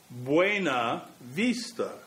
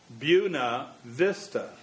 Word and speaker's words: Buena Vista: same holds for buena vista which should be buena vista but is instead pronounced buna vista except that people normally shorten it to beuni